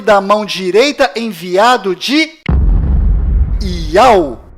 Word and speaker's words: Iau: enviado do Criador, pois o nome do Criador é Iau, e a última letra do seu nome tem som de H mudo, do qual não altera a pronúncia deste nome.